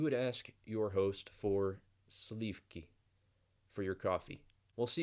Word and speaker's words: сливки: sleeve I don't think I quite persuaded you sleeve key sleeve key sleeve key so if you don't